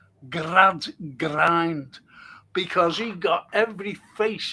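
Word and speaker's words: Gradgrind: Then you've got Grad Grind who's the uh headmaster. Grad Grind. And that's how you pronounce his name, Grad Grind.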